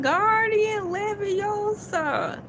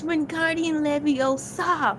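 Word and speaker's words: Wingardium Leviosa: they were like when guardian leosa and here come noy know it all hermi. It's not guardian leviosa it's wardian leviosa.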